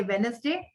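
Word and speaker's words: Wednesday: जैसे वेडनेसडे, D silent.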